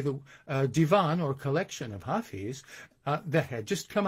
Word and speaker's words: Hafiz: mentality as chaucer had this man was named hafiz or the germans pronounced it hafiz and i i'm interested